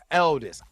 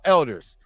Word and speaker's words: Aldis: I would rather have Aldis. Elders. I'm saying it right. Aldis Hodge.